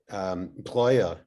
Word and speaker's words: Breuer: Breuer.